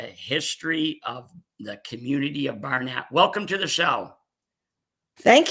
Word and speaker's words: Barnet: who don't even know where the community of Barnett is where is it well uh first I'll